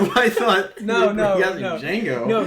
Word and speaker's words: Django: Django. No, Django as in the D is silent.